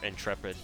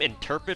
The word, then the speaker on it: Intrepid: Is her name Interpret or Intrepid? I always thought that you pronounce your name Interpret instead of Intrepid, but I guess the Japanese pronunciation implies that it's Intrepid, not Interpid.